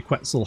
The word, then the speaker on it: Quetzal: Only Quetzal has the answers, right? Quetzal rhymes with pretzel.